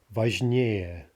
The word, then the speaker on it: важнее: So важный, meaning important, more important would be важнее, важнее, right, with the stress shifting to the ending.